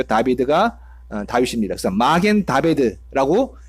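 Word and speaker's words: דוד: 보통은 마겐이 방패고 다비드, 이게 이제 다윗의 히브리 발음이죠. 다비드가 다윗입니다.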